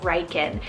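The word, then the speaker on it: Ryken: variant meaning promised by God then I have reiken spell r-y-k-e-n reichen now names like Ryder or Riker those two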